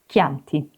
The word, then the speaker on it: Chianti: But in Italian, CH is always K, like in Chianti.